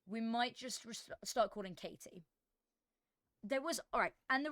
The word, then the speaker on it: KT: I have genuinely met somebody who is legally called Katie. Capital K, capital T. That is their legal name. Pronounced Katie, like Katie, like a normal Katie, right? But it's spelled KT.